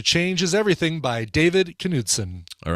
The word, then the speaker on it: Knutson: It's probably just pronounced. No, I think you do pronounce Knutson. I knew a Knutson growing up.